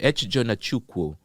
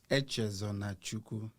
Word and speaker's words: Echezonachukwu: Let's hear the correct and the right pronunciation. ECHEZONACHUKWU. ECHEZONACHUKWU. ECHEZONACHUKWU.